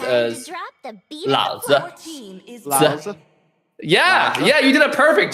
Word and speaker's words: Lao Zi: By the way, a side tip: the Lao Zi player, his name is actually pronounced as Lao Zi.